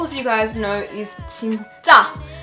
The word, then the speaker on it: 진짜: There's a double consonant at the ja, but the first little set of vowel and consonant with the 진 is no double. So you just say normal, you say 진, but then at the end you go big and you say 자.